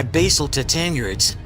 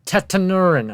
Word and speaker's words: tetanuran: included catosaurus followed by basil tanur including megalosaur and Spinosaurus it's called tetanuran oh my Lord when